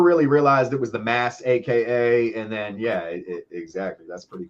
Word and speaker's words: Massaka: Here in New England, we don't pronounce our R's, so we wouldn't say massacre. We would say massacre. That is another piece to that. Yes, you are absolutely correct. Massaka.